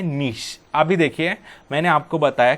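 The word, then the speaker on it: niche: ये नीचे नहीं है, इसका प्रोनाउंसिएशन नीश है।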